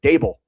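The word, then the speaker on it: Daboll: Dable. It's Dable like Table.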